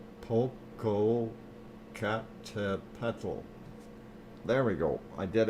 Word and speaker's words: Popocatépetl: There's things that I cannot pronounce, and it's difficult. See if Dr. Fox Popocatépetl. Popocatépetl.